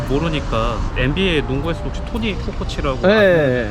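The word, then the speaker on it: Kukoč: 근데 이제 그걸 모르니까 NBA 농구에서도 혹시 토니 쿠코치라고 그 선수도 사람들이 발음을 이제 치라고 해야 되는데 아니 이걸 이렇게까지 박사님을 모셔가지고 우리가 이런 뭐 국어연구원에 뭐 NBA에 이렇게 논의해야 될 주제예요 이게?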